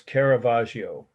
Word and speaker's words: Caravaggio: calling of saint matthew the artist's name is caravaggio a r a v a g g i